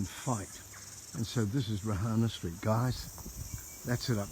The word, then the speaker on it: Reihana: So the correct pronunciation is Reihana Street, Orake.